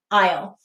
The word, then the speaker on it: isle: because of the e now we also have a silent s here this word is from french and that silent s comes from its french origins but we read this i o isle the next word is